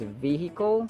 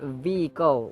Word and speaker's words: vehicle: the case of vehicle it can either Be pronounced As vehicle where H is sounded or vehicle where H is not sounded so vehicle or vehicle either of the two